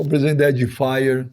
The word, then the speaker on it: Edifier: E a pronúncia é Edifier? Como é que é? Edifier.